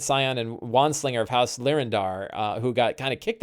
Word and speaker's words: Lyrindar: Mark of the Storm, half-elf, an independent scion and wandslinger of House Lyrindar, who got kind of kicked out of House Lyrindar after an incident with an airship.